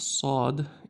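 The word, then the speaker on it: صاد: But sad is very serious. Sad. So, this is sad.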